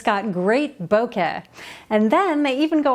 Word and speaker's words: bokeh: And the way to pronounce it correctly is bo as in bow tie and ke as in rhymes with meh.